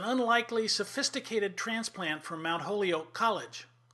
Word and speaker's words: Mount Holyoke: sophisticated transplant from mount holyoke college they taught us to pronounce it like the holy oak of an egg she once explained she